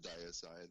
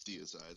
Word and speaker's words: Diacide: of changed it and a lot of people pronounce it diocide and they want to punch them in the my butt it's deicide I was in a band called Stone Cloud